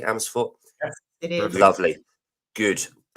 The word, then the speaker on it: Amersfoort: Is that pronounced correctly? Amersfoort?